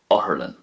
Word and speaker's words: otharlann: So once again, in Munster, Uspedale; in Connacht, it's going to be Aspigal; and in Ulster, Oherlin.